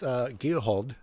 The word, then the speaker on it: Giehold: I'm adding an L when I shouldn't be. I know it's Giehold. That just blends together, but we think we all get the point. But Sven Giehold with the win here tonight.